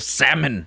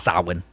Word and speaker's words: Samhain: But in Halloween 3 Season of the Witch, the guy he specifically says the holiday of salmon. Yeah. I don't think that's how it's pronounced, though. That's Samhain.